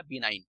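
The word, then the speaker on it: benign: यहाँ पे जी जो रहेगा साइलेंट रहेगा, बिनाइन, ठीक है।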